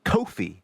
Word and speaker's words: Ko-fi: Last week, we inaugurated a digital tip jar, Ko-fi, I'm told it's pronounced, which we put in the episode's description.